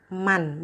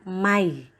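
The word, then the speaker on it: مَنْ: itu cara membacanya memasukkan jadi meskipun disini lafalnya Man Tapi bacanya bukan Man melainkan May masuk ke dalam huruf berikutnya yaitu huruf ia jadi ada nun sukun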